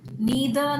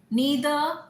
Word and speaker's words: neither: Similar to neither nor, either or. Neither, neither. Both are right.